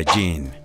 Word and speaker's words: Gene: otra pista es que su segundo nombre se pronuncia a jean haciendo referencia al apellido de la chica de la que habla en su polémica canción sumado a esto